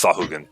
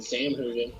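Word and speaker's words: Sahuagin: It's Sahugan. I've been saying it. I partially say it wrong too, but I've been saying Sam Hoogan, like the Yeah, fucking.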